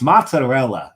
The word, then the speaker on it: mozzarella: there yeah it's like no it is not MZ it's not Madel it's mozzarella in in Italy they here